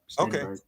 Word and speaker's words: Stenberg: Stenberg.